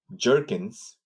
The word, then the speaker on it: Gherkin: Somebody decided to name this Gherkin. This test writing strategy called Gherkin. Some pronounce it Jerkins, but I've seen in the industry most folks at a higher level they say Gherkin.